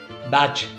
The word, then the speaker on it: Bach: Jonathan Livingstone seagull, Richard बाख, BACH, Richard बैच. मैं बाख बोलता हूँ, उसके बेचारे की रियल प्रोनाउंसिएशन बाख थी, बट उसने भी सरेंडर कर दिया. बोलो दुनिया बैच बोलती है तो बैच ही चाहिए.